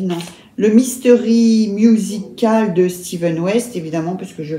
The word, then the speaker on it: Stephen: Steven, ça s'écrit Stephen, il a déjà dit hein. Et ça se prononce Steven.